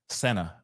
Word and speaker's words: Sena: are David and Trisha CNA or Senna sorry see now I'm even pronouncing it wrong but David and Trisha Senna and as you can